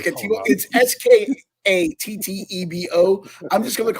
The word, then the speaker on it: Skattebo: I do like, and I'm going to pronounce his name wrong, the running back was it Cam Skatey Boy or whatever. I'm just going to call him Skater Boy. Skatibo? Hold on. It's Skattebo.